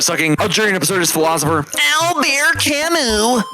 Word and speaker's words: Camus: Yes, Kimu with an S at the end. Please don't ask me why they spell it like this. It's not a typo. Just pretend like the S is not there.